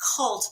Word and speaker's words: CVLT: One's called 764 and the other one is cult, but it's spelled CVLT.